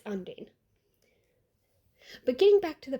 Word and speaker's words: Undine: It's Undine.